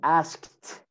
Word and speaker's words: asked: of these sounds okay if a word ends with foster that sound that e d is replaced by a t okay by a t example example let's see so here the word ask ask so you add edie the ed is t asked asked asked asked or